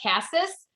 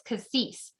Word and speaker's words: Cassis: It's spelled like Cassis, but it's Cassis.